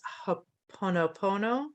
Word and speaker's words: Ho'oponopono: So I've come across it, but I can never pronounce it. It's Ho'oponopono.